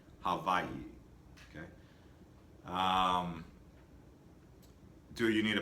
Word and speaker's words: Hawaii: Actually, the W is pronounced like a V. Hawaii.